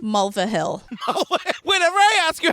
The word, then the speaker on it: Mulvihill: Mulvihill.